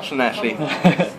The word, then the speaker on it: Llanelli: So you guys are from Llanelli, Wales, which is pronounced Llanelli.